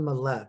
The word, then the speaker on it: Mallett: much so the name my name is millette is how they like malay is actually the the way you're supposed to pronounce it but in the united